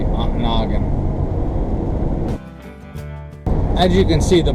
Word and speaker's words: Ontonagon: long for Nana Ontonagon aunt noggin I think I stayed long enough that I pronounced it the local a Ontonagon as you can see